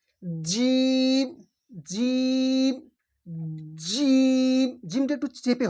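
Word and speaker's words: جيم: আছে এই দুই দাঁতের মাথায় হালিফ বা তাা জিম জিম জিম জিমটা একটু চেপে হবে একটু চাপ দিয়ে উচ্চারণ করবেন জিম জিম তারপর হচ্ছে হা গলার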